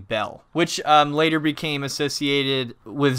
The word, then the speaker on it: Bael: the later Kingdom and the Babylonians pronounce his name bell which later became associated